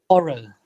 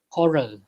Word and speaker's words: horror: Though there are double R and again R, but last R is not pronounced at all in both American and British English.